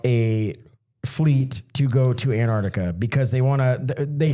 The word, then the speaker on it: Antarctica: This is about Antarctica. So, I think I added a syllable there. Antarctica.